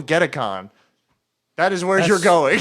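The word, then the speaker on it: Gedacon: I type letters uh someone pronounce g e d a c o n just get Aon yeah that sounds cool get Aon that is where you're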